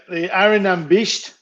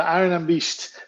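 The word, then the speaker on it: Airigh Nam Beist: Can you help me pronounce it? The Arinambisht. Yes. The Arinambisht, which is the name of, well, everyone thinks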